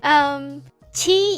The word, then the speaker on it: 七: Qi you can remind together with Genshin's character Qi.